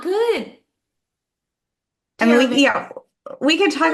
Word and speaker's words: Taravangian: I think Taravangian, which is how it's said in the Hmm.